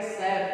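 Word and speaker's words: chef: ठीक है, यहाँ पर देखिए सी एच का प्रयोग किया गया है, तो यहाँ इसको हम लोग क्या पढ़ेंगे, शेफ पढ़ेंगे।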